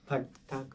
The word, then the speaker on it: Pagtatag: But I do want to get into the EP a lot, and I'm gonna try my best with the pronunciation. But Pagtatag. Yeah, that's Yeah, right. Pagtatag, yeah.